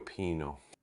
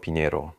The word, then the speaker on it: Pinheiro: Antonio Pino Pinheiro, Pinheiro, itulah pengucapan yang benar.